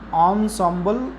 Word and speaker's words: ensemble: इनसेम्बल, इसको हम ऑनसॉम्बल pronounce करते हैं।